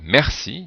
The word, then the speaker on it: merci: à l'intérieur du mot, par exemple, merci, donc on voit que le R se prononce, donc le E se prononce est.